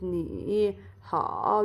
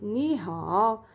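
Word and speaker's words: 你好: For example, you cannot pronounce it ni hao, you have to pronounce it ni hao, ni hao.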